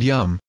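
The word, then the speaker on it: यं: or seed mantra is yam pronounced the mantra by inhaling noiselessly through your mouth and sound YUM as an yummy make yum sound by breathing in air filling the mouth and throat cavity sense of this chakra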